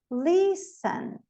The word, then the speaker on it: listen: Listen. Balé. Ah, balé, nem um pouquinho. Balé. Balé. MB, não pronuncio o B, então.